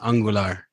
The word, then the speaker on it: Angular: Yeah, Angular. This is how you say it. Well, Tomas, you weren't here last week. We officially have corrected the pronunciation. The official way to pronounce Angular is Angular.